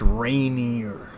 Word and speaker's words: Rainier: That's not how you pronounce it. It's not Rainier. It's not Rainier. It's not Rainier. It's Rainier.